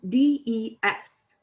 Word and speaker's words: des: is they or some d-e-s again just like lay it's normally pronounced they like the english they um but it's spelled d-e-s that s is normally silent on the end of the word however when it's followed